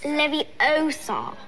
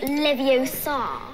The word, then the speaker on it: Leviosa: someone's eye and besides you're saying it wrong it's Leviosa not Livio song I chose out weeks